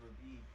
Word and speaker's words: Verbeeg: of mead that the how'd you pronounce it again? What are they called again? Verbeeg? Yeah, Verbeeg. They're called Goliaths, Owen.